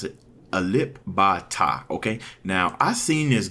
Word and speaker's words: Alip Ba Ta: How you pronounce it? Alip Ba Ta, okay?